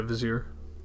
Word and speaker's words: vizier: to say it out loud and it's it's pronounced vizier right yeah vizier vizier tell me what is the detailed plan